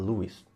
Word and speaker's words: Lewis: Lewis ou CS Lewis que eu descobri que a pronúncia correta é Lis mas tanto faz né